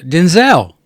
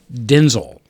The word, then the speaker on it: Denzel: He says, "Uh Denzel." And he goes, "Yeah, that's not my name. It's actually pronounced Denzel."